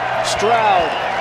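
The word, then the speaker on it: Stroud: Straoud rhymes with loud.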